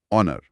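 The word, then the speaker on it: honour: ऑनर। ऑनर। हां। तो पहली आवाज क्या है? ओ यहां भी एच साइलेंट है और ओ एक स्वर ध्वनि है।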